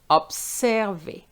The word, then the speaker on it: observer: So if you have an S between a consonant and a vowel, remember it's not observer but observer. Observer.